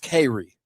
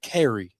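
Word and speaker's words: Cary: Well, it's kind of pronounced Kerry. You know how C A R Y C A R Y, but they kind of say Kerry down there.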